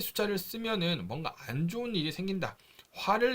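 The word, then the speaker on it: 四: 중국에서도 중국식 발음이 비슷합니다 숫자 4는 중국어로 쓰 라고 발음을 하고요 으 죽다 라는 발음은 스 라고 발음을 합니다 그래서 어 매우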